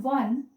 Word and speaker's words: one: a one rupee coin because the o in one sounds as w then a university because